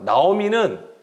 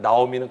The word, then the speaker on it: 나오미: 잘 살았다고 하자면 과연 나오미는 그 이름 뜻대로 기쁨을 가지고 살았을까? 자, 오늘 이제 이것에 대해서 좀 살펴보겠습니다. 나오미는 노음이라고 읽어요. 그런데 이것이 노암이라는 단어에서 온 거예요.